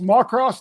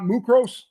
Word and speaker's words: Muckross: So it's pronounced Macross, not Mucros.